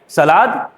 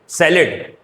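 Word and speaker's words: salad: In India people pronounce that word like सलाद बट इट is exactly सैलेड इन the same manner.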